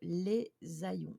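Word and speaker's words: Les Hayons: Alors, la troisième légende coup de cœur nous emmène non loin de Bouillon, près du charmant petit village de Les Aillons. Ça s'écrit Hayyons.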